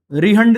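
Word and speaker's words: रिहंद: है जिसका नाम था रिहंड नदी। ठीक है, जिसे हम रिहंड रिवर बोलते हैं। ठीक है, प्रोनाउंसिएशन क्या है वो तो देखना पड़ेगा, रिहांड भी बोल सकते हैं आप, इसे रिहंड भी बोल सकते हैं।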